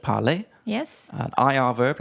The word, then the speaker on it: parlé: Parler. Parler. So the E with an accent is an A.